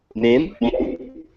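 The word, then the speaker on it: Hnin: Where I signed up some guys, and And then, how do you say her name? H-N-I-N? Nin? Yeah, her.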